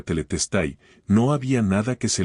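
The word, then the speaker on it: τετέλεσται: En griego se pronuncia teletestai, no había nada que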